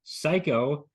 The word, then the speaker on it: Cayko: Adam Ross Dean with me today is Lance psycho uh even though it doesn't appear that way it uh that's how it's pronounced as I am told Lance how are